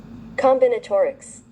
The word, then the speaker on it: Combinatorics: So I'm teaching you Wait, how do you pronounce this? Wait. Uh fudge. Uh, what's combinotaurics?